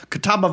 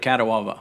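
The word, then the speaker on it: Catawba: Um so I couldn't pronounce that word when I was a kid. I called it Katawa.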